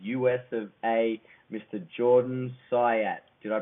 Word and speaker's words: Syatt: jordan syat did I pronounce that right Jordan that was perfect man